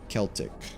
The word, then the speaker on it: Celtic: Actually, it's supposed to be pronounced with a C. Or with almost like a K. So like a hard C. So like Celtic.